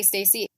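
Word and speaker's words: Stasi: name is lisa it's spelled s-t-a-s-i so i'm gonna say stacy but her mother was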